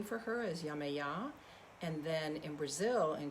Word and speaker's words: Yemaya: really yamaya was just calling to me so yamaya uh is that and that's that's um the pronunciation she she goes by several different names